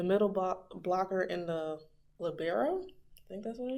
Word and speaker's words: libero: wing Spiker the middle block blocker and the labero I think that's what it is but that's how Professor Cooper pronounced it so that's how they pronounce it they pronounce it libero in the show at least in the English